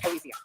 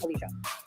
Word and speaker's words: Alicia: And it's definitely You want to listen to this, or you can not Alicia. It's Alicia.